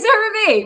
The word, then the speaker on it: CeraVe: It's really CeraVe.